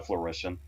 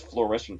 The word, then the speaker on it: fruition: By the way, I totally just pronounced fruition as flourition for some reason.